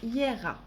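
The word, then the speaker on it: Jera: Cette rune qui se prononce Hiera.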